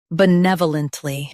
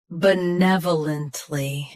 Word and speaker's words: benevolently: Today, we will learn how to pronounce the word shown on the screen. Benevolently. Both US and UK have the same pronunciation of this word. Stress nev. Keep bu soft and lunt smooth. Benevolently. Benevolently.